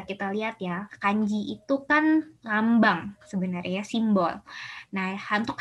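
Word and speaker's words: 火: Nah, di sini bisa kita lihat ya, kanji itu kan lambang sebenarnya, simbol.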